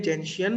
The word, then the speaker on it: gentian: Glacial acetic acid, acid, जेंशियन violet, this is pronounced as जेंशियन, gentian.